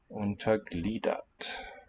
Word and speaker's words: untergliedert: The fact that there's this g missing, that it's not there, really tells us indirectly which syllable we need to stress. Untergliedert.